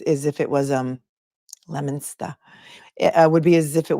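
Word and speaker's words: Leominster: lemona the other day I was saying Leo Minster and you're like no it's lemona lemona so I got that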